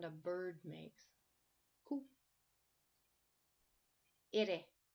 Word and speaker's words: ere: Ire. When you pronounce this one, try to make it sound like the word Betty or the word Teddy, like a double D or a double T.